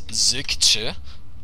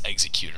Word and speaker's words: xeQtr: Trust me, I thought it was xeQtr too, and then I asked him, and he was like, "Oh, it's xeQtr," and I was like, "Oh, that makes sense."